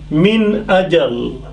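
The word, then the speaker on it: من أجل: Min ajal. Min ajal. So see nun sakin min, not prolonged, not through noses, not through any other way, but very clear.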